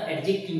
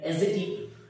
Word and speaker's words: adjective: pronoun আরেকটা হচ্ছে এডজেক্টিভ যদিও কথাটা এডজেক্টিভ নয় এটা এজেক্টিভ সঠিক উচ্চারণ ঠিক আছে প্রোনাউন এবং